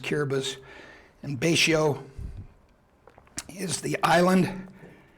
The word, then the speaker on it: Kiribati: quick things it was called Gilbert's now it's curabus looks like Kiribati but it's pronounced kiribus and Bacio is the island operation galvanic was